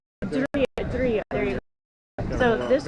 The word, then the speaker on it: Ydria: So it's a YDRIA. He pronounced it for us. It was Idiria, I think. Idiria.